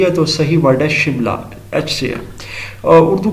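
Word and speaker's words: Shimla: سملا conference 1945 which is correctly pronounced as شملہ، لیکن یہ چونکہ برٹش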